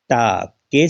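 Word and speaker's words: talk: half नहीं बोला जाता टा के से पहले क्या है अल अल है वह साइलेंट है टॉक बोलते हैं टलक नहीं बोलते क्योंकि अल साइलेंट है अब देखिएगा यह देखिएगा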